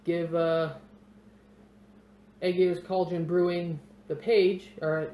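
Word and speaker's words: Ægir: There's Aegir's Cauldron Brewing, or Aegir's, that's how it's actually pronounced in Old Norse.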